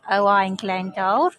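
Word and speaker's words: Owain Glyndŵr: old oow oing glendor or as his name is pronounced in Welsh o glendor um he yeah he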